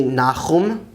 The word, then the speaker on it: נחום: Nahum or Nahum is actually Nahum, Nahum. Habakkuk is Chabakuk, Chabakuk. The next book, which some people pronounce as Zephaniah, is actually Tzefania in Hebrew, Tzefania.